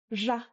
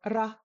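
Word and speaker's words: ར: So, this isn't ra like English. No. Ja, ja. That's used in Central Tibet. In Eastern Tibet, they use a tapped or a rolled r. So, da or ra like the edi or eri in Spanish.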